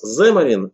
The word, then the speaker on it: Xamarin: зе марин его название но если правильно читать с ударением на первый слог земли до но на самом деле кто как произносится мариян кто-то говорит как самое говорит так далее но правильно вообще если англоязычных спикеров послушать они говорят сэм и в чем заключается